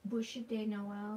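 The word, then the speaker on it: Bûche de Noël: So I'll just How do I pronounce it? Bouche? Day Noel? Bush Day Noel. Yes.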